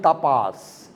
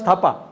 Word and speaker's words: Thapa: She stammers, manjori, tapas. She couldn't pronounce thapa. She said tapa.